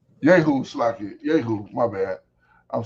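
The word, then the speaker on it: Jehu: Uh yahoo sli yahoo. My bad. I'm saying yoo.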